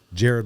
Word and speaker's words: Jaryd: Jared, like the jewelry store, not the subway guy.